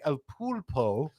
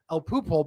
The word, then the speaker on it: El Pulpo: And I told them that I told them about Billy pronouncing El Pulpo, which is Spanish for the octopus. El Pupo because Billy legitimately cannot pronounce any Spanish words even though his wife is Spanish.